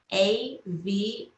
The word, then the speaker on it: Aviva: It's AVIVA, like Viva Las Vegas, but with an A in front. So Aviva.